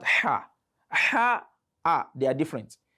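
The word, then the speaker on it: ح: If you want to know you are pronouncing ha, just place your hand like this in front of your mouth and pronounce ha. You will see some breeze touching your palm. So the breeze will come out naturally. Ha, ha, ha, ha. So it sounds differently from ah.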